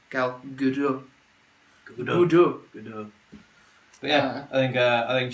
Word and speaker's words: Gal Gadot: Gal Gadot. Gal Gadot. If you're an American, sorry, you lot say it wrong. It's not Gal Gadot. It's obviously a French-sounding name. Gal Gadot.